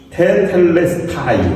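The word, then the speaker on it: τετέλεσται: 단어를 우리가 묵상할 텐데요 다 이루었다고 번역한 것은음 테텔레스타이 아고 발음합니다 그것은 무엇인가 다 이루었다는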